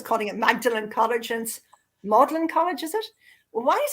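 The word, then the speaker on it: Magdalen: name that's stupidly spelled and as for M magdalin I was always calling it magdalin college and modlin college is it why is this why is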